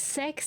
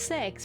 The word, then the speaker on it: CeX: Like I did I I would never have looked at that and thought it's pronounced sex because it's a C and most C's in the UK are are are hard.